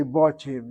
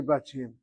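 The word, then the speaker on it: בתים: It probably is an o sound, which is timely which is probably so grammatically, but in pronunciation, people don't say botim, they say batim.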